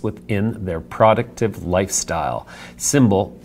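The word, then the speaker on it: Symbl: their product of lifestyle symbol pronounced sy M BL that's interesting lost a vowel there FSD Pharma our favorite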